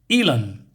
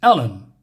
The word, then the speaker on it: Ellen: happened to chat and he calls her uh Elon and she says Ellen what you say my name in a funny way sometimes like you put an A in it oh I'm sorry he